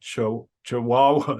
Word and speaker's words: Chihuahua: He lives in Ohio with his partner, Linda, and the overlords of the house, Sky and Riley, the super chihuahuas. Is that how you pronounce it?